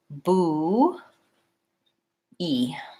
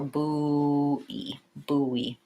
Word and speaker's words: buoy: weird word isn't it so buoy is spelled with letters that don't really match how it actually sounds it actually sounds like boo e or boo boo E and there's kind of a little hidden W in between buoy yeah